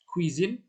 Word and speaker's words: cuisine: Untuk ini, huruf CA, CU, dan CO ini dibaca K ya, jadinya K. Jadi K, Ku, Ko. K, Ku, Ko. Terus ya contohnya itu ada kado, cuisine, sama komong.